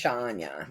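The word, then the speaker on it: Áine: Ismi Anya.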